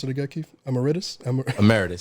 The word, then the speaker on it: emeritus: How do you pronounce it again, Keith? Emeritus. Emeritus.